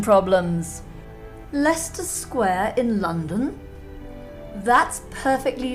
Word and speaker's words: Leicester: out more pronunciation problems Leicester Square in London that's perfectly ludicrous look at this one it's written la ice stir and pronounced Leicester to rhyme with Uncle Fester that's not on either